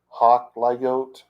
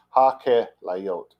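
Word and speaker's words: הַכְּלָיוֹת: I'm not sure how you would do that in modern ha-klayot or ha-klayot. That's so wrong. That is just so wrong. Ha-kelayot is how it's pronounced properly in the Bible.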